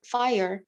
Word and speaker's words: fire: consider consider the word fire some people some people pronounce this as a single syllable but we can pronounce it as two fight earth where the